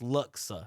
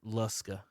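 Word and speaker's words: Luksa: uh got her name on the sign miss luxa it's it's it's it's that the name it's l-u-k-s-a and everybody pronounce it luska and that's it's so hard it's like that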